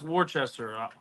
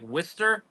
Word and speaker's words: Worcester: ] good well listen it's not pronounced Worchester I mean I was getting flamed for months it's like Jake's probably gonna kill me I'll probably it up now but it's like whester wer yeah Worster it's like